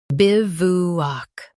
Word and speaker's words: bivouac: Both US and UK have the same pronunciation of this word, bivouac. Now read the syllables shown on the screen naturally. Biv, u, ak, bivouac. Stress biv and keep oo short. W is silent.